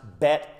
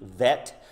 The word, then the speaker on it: bet: and it's bet that's sometimes pronounced bet like b bet or v vet or somewhere in between it's kind of the